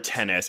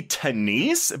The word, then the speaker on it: Tenise: Okay, so Joe, you said Deborah Tennis. It's supposed to be Tenise, but yeah, it doesn't.